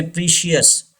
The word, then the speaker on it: precious: precious yes don't say precious getting as english learners should know correct pronunciation okay pressures pressures this ci gives the sound sure precious number six delicious